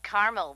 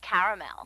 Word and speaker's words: caramel: Actually, you said caramel when it's pronounced caramel.